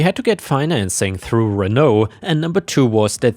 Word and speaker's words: Renault: And by the way, I think in Europe we would pronounce it Renault, which is the French way, but I suppose in American English you would say Renault.